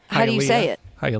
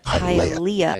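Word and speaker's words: Hialeah: Halia. Hia. Oh. Oh god. Hi Alia.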